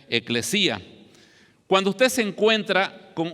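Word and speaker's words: ἐκκλησία: Hay 117 referencias en el texto griego a la palabra iglesia, que en griego se pronuncia eclesía.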